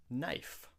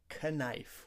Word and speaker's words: knife: Knife. We don't say knife. We just say knife. The K is silent.